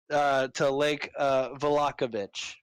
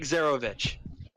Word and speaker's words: Zarovich: She was abducted by Bluto, the town drunk, and she was taken north to Lake Valakovich. Did I say it right? Strahd, to Lake Zarovich.